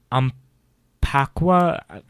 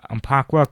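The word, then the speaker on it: Umpqua: um I'm sorry I I always have trouble pronouncing it it's uh in umaka I'm sorry aaka Community College in Oregon uh we have some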